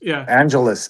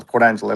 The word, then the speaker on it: Port Angeles: Uh Angelus. Angel. Port Angeles. Like Los Angeles.